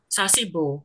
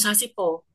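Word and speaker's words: 사십오: dengan kebanyakan yang lain bacanya itu bukan Sas tapi Sas sasibo jangan sasipo kenapa kenapa Nataya karena sasip O itu emang tulisannya Itu pakai huruf b begini ya kan bawahnya itu si itu B tulisnya kan gini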